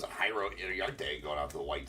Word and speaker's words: Jairo Iriarte: Jairo Iriarte.